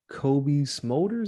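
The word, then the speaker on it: Cobie Smulders: in my list it was uh him and Kobe smolders is how you say her name yeah yeah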